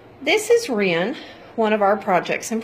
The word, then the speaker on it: Ryn: hardly pronounce it so we shortened it to Ren r y n come on baby it's